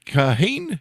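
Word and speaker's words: Kahane: for National Review written under the pseudonym David kahain is do I have that pronounced correctly yes there you go we're developed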